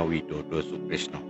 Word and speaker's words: Widada Sukrisna: Sebelumnya perkenalkanlah nama saya sebenarnya panggilannya Widodo Sukrisno. Loh, kok beda Pak? Widada Sukrisna itu tuh ejaan lama. Ejaan lama. Ejaan lama dari huruf-huruf yang dulu sebutan dari O menjadi A atau O menjadi O.